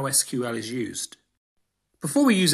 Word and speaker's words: SQL: for structured query language some computer scientists pronounce it sequel but I'm not as cool as them and I'm going to just stick with SQL it's used to manipulate